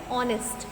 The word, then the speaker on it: honest: Means to say when we are going to pronounce it, that time H will be silent.